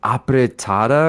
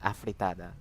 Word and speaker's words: afritada: My mom would make, pancit, and is it pronounced apretada or something? Oh my God, yeah, like a F sound, afritada. Afritada. Oh my God, it's with an F.